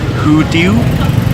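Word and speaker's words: Hủ tiếu: who do you mean so this is a type of pho from South Vietnam is pronounced who do you is different than pho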